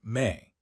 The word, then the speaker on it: me: The mainstream historical fact that anchors this speculative voyage is the Sumerian concept of me, pronounced may, a complex idea representing the divine decrees.